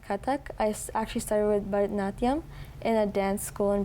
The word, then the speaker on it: Bharatanatyam: Bharatanatyam.